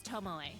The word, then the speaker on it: Tomoe: It's Tomoe. Thank you very much. I have been pronouncing her name right this whole time.